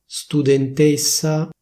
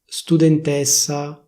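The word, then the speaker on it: studentessa: For example, the suffix "-essa". The standard pronunciation should be: /studentéssa/, /dottoréssa/, /professoréssa/. That is, with a close /é/ sound. In Milan, people say: /studentèssa/, /professorèssa/ - No!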